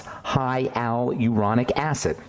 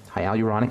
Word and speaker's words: hyaluronic: slowly because it's somewhat hard to produce to pronounce High Al uronic acid hyaluronic acid is a really important ingredient in SK